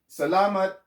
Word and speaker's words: salamat: to say salam okay salamat is pronounced with an accent right here salama it's not salamat you know some people